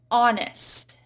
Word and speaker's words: honest: Then we have words where you just do not hear the H at all. Hour. Time. What is the hour? That's the same thing as our cat, the possessive. So our is silent. Honest. Honor.